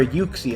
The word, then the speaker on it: Uxie: chao uh mudsdale and uxie or yuxie as i'm told it's pronounced snoot on the other